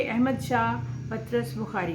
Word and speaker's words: پطرس: कुछ लोग इसको पेतरस पढ़ते हैं, लेकिन असल में इनके स्पेलिंग देखें तो PATRAS है, पतरस। लिहाजा आप इसको ऐसे ही पढ़िएगा।